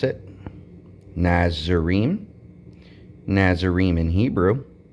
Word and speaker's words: NAZIYRIYM: Here's how you pronounce it. NAZIYRIYM.